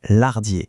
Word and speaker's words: Lardiers: On ne prononce pas le S à la fin. Non, c'est Lardier, mais on dit Lardier.